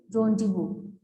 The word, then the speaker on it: rendezvous: Yes, its correct pronunciation is rendezvous.